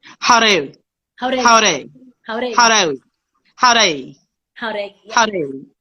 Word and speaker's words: Jauregui: By the way, my last name is Jauregui or Reggie.